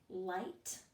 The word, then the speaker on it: light: light hi caught these words either have a GH